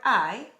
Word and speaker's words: hay: is there are there i h a y they say that together i you got it no h because the age is silent in his spanish let's practice the word i with some questions and